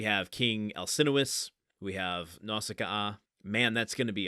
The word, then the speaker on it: Nausicaa: favorite movies and the Japanese original language pronounces it Naushikaa, which is how it's been ingrained in my head. Which almost sounds Russian. But Nausicaa and having to repeat the double vowel at the end of her name is a bit of a struggle for me.